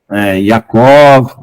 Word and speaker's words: Yaakov: Nós vamos tentar nos aproximar o mais próximo da pronúncia original em hebraico, tá? Nós vamos substituir as palavras com letra J, né? Com o I, né? Com a pronúncia correta. Yaakov, né?